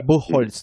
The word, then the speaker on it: Buchholz: Buchholz, right? That's her last name. Barbara Buchholz, yeah. Buchholz, that's a German pronunciation.